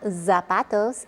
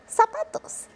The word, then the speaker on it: zapatos: In most of Latin America, the Z is pronounced like an S. So it's not zapatos, it's zapatos.